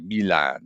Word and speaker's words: Milan: household immediately just went, he knows how to pronounce Milan properly as well, because it was like Milan.